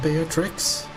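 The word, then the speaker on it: Beatrix: Is it be tricks? They are trees. They are tree. There's an X at the end. So the X will be pronounced.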